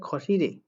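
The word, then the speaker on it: 거실에: খ শিল, উচ্চারণ হবে খসিরে, খসিরে বসার রুমে।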